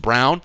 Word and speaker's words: Braun: X Factor was Christian Brown because it's actually pronounced Brown you guys had told me already it's pronounced